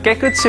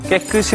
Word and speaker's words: 깨끗이: 틀리게 하는 분들이 많으시더군요 드라마에서는 깨끝이 라고 발음을 했는데요 깨끝이 가 아니라 깨끗이 로 있는 것이 왔습니다 깨끗이 a